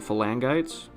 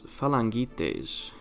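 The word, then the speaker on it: phalangites: there are other variants I had been pronouncing them for langites but according to Leo it's falangites which makes sense it was just not the pronunciation I thought it would be and so it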